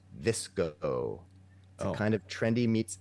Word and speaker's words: VSCO: Named after the photo editing app VCO, pronounced Visco, a kind of trendy meets effortless meets beachy vibe.